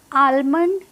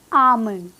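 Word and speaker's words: almond: सो इसकी correct pronunciation क्या है, आमंड, आमंड। और जो जो डी है बस न बनाना है, उसको ड प्रोनाउंस भी नहीं करना है।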